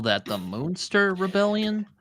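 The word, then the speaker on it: Münster: you spell that the moonster Rebellion m u NST and that U does have umlout dots in Germany oh it's moonster like like like the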